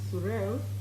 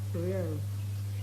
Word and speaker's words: Zuriel: Child's name is Surel Onyum. Spell it. Z-U-R-I-E-L, Surel.